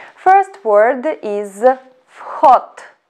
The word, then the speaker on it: вход: First word is вход. Вход. Вход, which means entrance. Please pay attention to the pronunciation of the word вход. First letter V we should pronounce as F.